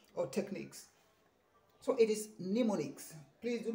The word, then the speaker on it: mnemonics: talking it is wrong this one is a bit confusing the m is silent you don't have to say no no mix it is mnemonics it is mnemonics okay